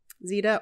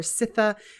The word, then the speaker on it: Zita: i do like um zeta or sitha is pronounced different ways different things but she is the